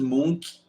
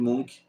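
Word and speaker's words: Munch: E o grito de Edmund Edmund de Munk ou Mink, que é como se fala, mais tarde em reação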